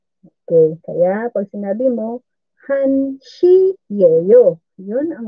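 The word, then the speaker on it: 한 시예요: Pag sa time na, ang hana, nagiging han na lang.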